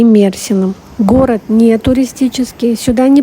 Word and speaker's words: Мерсин: Часто я слышу, что город называют Мерсин, но в Википедии поставлено ударение на Мерсин, и местные жители тоже город называют Мерсин.